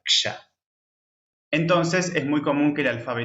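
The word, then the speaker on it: क्ष: poquito más suave, y la letra compuesta, porque son 2 letras, la K y la Ya. Ksha, se pronuncia Ksha.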